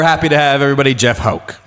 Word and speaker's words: Houck: Jeff Houck. Houck. Nailed it. That's okay. Anyway, glad to have Jesus, you. Houck.